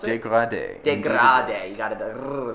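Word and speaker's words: dégradé: Is that how you pronounce it? Degrade. Degrade.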